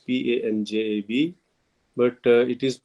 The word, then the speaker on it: Punjab: Uh, we use the word Punjab, but if you look at the correct pronunciation, that is the Punjab, Panjab, but it is not written in the government records and things.